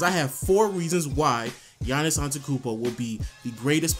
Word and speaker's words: Giannis: I really get annoyed when people call him Giannis it's obvious that it's Giannis just go look it up is pronounced Giannis Giannis but you know that's just me I'm just